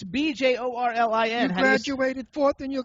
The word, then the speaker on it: Bjorlin: Nadia, and I don't know how to pronounce her last name, but Jorlin. She is. Jimmy, what's wrong with you? It's BJORLIN.